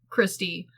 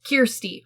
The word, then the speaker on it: Kirsty: Honestly, and I think we pronounce it Christy, but I think the movie pronounces it Kirsty, which I fucking hate. I hate that her name is actually Kirsty, because that doesn't...